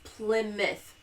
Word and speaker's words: Plymouth: the uh pouth and Plymouth Plymouth yep I did it Plymouth Plymouth it's Plymouth I know it's spelled like ply mouth but it's spelled Plymouth because you know English Plymouth no so and also